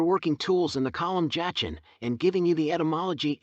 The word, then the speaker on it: Jachin: tools in the column Jachin, and giving you the etymology and literal meaning of the 2 names. The word Jachin, in Hebrew, is y. It was probably pronounced Yakayan, and meant, as a